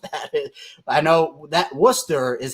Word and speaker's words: Worcester: I know that Worcester is how that's pronounced if you're in Boston.